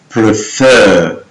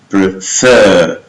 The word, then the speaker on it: prefer: Fifth, in most two-syllable verbs, the end consonant is doubled if the stress is on the second syllable, like prefer, prefer, preferred, admit, admit, admitted.